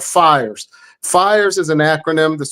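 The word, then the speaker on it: PHIRES: in the menu called fires fires is an acronym that's spelled p i RS the pH makes the F sound is in like philosophy and the whole idea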